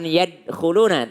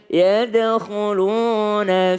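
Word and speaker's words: يَدْخُلُونَ: Ya, ada dal qalqalah. Jangan yadkhuluna tapi yadkhuluna fi dinillahi afwaja.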